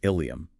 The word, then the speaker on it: ileum: The sources highlight the difference between ilium and ileum. Ilium, spelled with an I, is the large flared bone of the pelvis. Ileum, spelled with an E, is the final section of the small intestine. And spoken out loud during a fast-paced shift handoff or in a noisy emergency room, they sound absolutely identical.